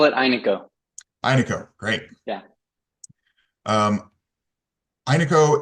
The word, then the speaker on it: Aineko: application with I um hey how do you pronounce the name of this uh service we we call it Ino Ino great yeah um Ino is an open